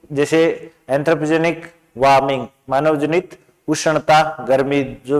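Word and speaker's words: anthropogenic: एंथ्रोपेनेजिक, एंथ्रोपेजेनिक, एंथ्रोपेजेनिक होता है मानव जनित।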